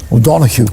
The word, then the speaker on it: O'Donoghue: Colin O'Donoghue is with us. O'Donoghue.